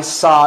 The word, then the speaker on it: saw: I saw your sister the other day.